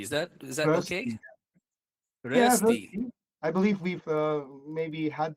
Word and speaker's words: Rösti: So since you have two dots, it's the umlaut, you say Rösti. Cuz if it's Rösti, it will actually become rusty in English.